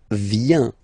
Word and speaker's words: vient: Then il, elle, vient. Final T not pronounced.